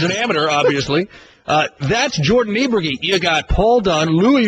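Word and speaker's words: Niebrugge: we had to figure out, honestly, I'll be honest, I had to ask today how to pronounce the name of the other one, who's tied for 6th. Jordan Niebregi, who is an Oklahoma State Cowboy, 21 years old.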